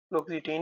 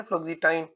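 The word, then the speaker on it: fluoxetine: receptor in ठीक है इसमें आ जाता है फ्लक्सिटीन या फ्लक्सिटाइन यू कैन यूज़ any pronunciation और साइकोसिस के लिए जो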